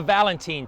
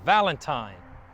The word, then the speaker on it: Valentine: would name it the Valentine Plantation after his wife so this means that the town establishes not pronounced Valentine but actually Valentin the real Valentine would